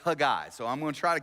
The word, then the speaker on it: Haggai: grow up in church pronounce it Hagee I and I did too until a hebrew scholar said no that's completely wrong it's a guy it's a guy so i'm gonna try